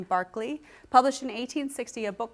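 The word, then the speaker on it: Berkeley: literature here's a beautiful illustration from Barkley you pronounce his name Barkley published in 1860 a book called British funology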